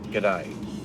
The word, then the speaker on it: g'day: i'm sorry is g'day it's critical that you learn how to say this word properly only one word it only takes one word one word at a time so let's break the word down it formed from good day but in australia we